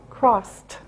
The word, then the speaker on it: crossed: tense is crossed remember after an S sound it's t sound cross crossed next male mailed this